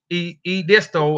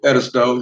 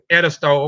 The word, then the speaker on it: Edisto: Edisto, I'm saying it wrong. I know I am. St. Helen. Edisto, yeah. Edisto, okay.